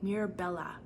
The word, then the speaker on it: Mirabella: treasure she is blue Beard's princess known as Mirabella but it's spelled m i r a b e l l a Mir Bella she is a mermaid who stole his heart